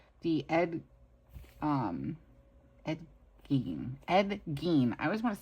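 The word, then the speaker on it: Gein: Ed Gene.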